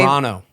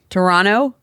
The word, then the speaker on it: Toronto: Toronto. Tor. They don't pronounce the second T. Toronto.